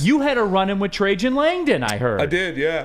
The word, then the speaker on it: Trajan Langdon: It's not Trajan Langdon. It's Trajan Langdon.